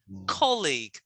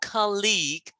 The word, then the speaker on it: colleague: So make sure when you say it, colleague, not colleague, colleague. Colleague. That's right. The second syllable should be really short.